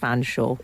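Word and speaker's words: Featherstonehaugh: The surname spelt Featherstone Hall is pronounced Fanshawe.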